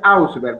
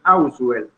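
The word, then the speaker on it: Ausubel: Una de las cosas que más le llamó la atención a Auswell fue, y no es Auswell, como la gente le pronuncia, es Auswell, es precisamente él tiene una gran convicción cuando lee el libro de pensamiento, lenguaje y pensamiento de Vygotsky.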